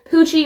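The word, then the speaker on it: Pucci: Pooie rhymes with Gucci, and everyone knows what Gucci is.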